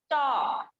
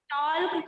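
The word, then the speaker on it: talk: इसको क्या पढ़ेंगे बच्चों, टॉक। क्या पढ़ेंगे, टॉक। टॉल्क कभी नहीं, हमेशा टॉक पढ़ेंगे।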